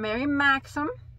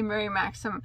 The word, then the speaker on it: Mary Maxim: I bought some from Mary Maxim. I said it right. I usually say Mary Maxim and Hirshner's.